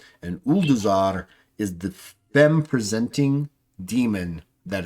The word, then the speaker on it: Ulduzar: And to utterly destroy, if possible, Uldazar.